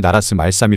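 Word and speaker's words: 나랏말싸미: 보는 것 같기도 하실 텐데요 실제로 당시에는 이것을 나라스 말사미 발음했다 합니다 왜 그렇게 발음했던 것일까요 그 이유는 바로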